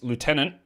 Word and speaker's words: lieutenant: How do I pronounce lieutenant? I know, some people say lieutenant. I don't. That's very British. I say lieutenant.